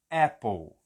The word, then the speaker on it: Apple: a palavra maçã Apple Apple como que é a pronúncia a pronúncia é um é e aquele é bem grande que eu faço até duas vezes eu escrevo ele duas vezes então não é Apple